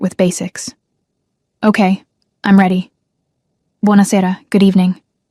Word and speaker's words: Buonasera: "Buonasera, good evening." "Buonasera," she repeated. Her pronunciation was terrible. "Buona sera," he corrected gently, emphasis on the second to last syllable.